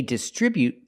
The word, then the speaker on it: distribute: Example, they distribute their products from the distribution center. We see both words. They distribute their products with a stress on the second syllable.